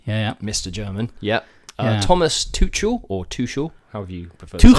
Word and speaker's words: Tuchel: And he was saying Tuchel, and the German guy actually said, "Scousers will find it easy to say."